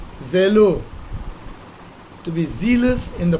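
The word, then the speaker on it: ζηλόω: Therefore, Strong's definition for this Greek word, which is pronounced zelo, to be zealous in the pursuit of good, to desire earnestly, or to strive after.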